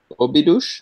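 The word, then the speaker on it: Óbidos: It's not quite related to the collab process, but when you were speaking about the project in Obidush, have I said it right?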